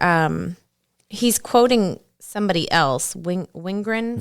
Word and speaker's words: Wingren: Wingren, Venrren, Venrren. There you go. German pronunciation.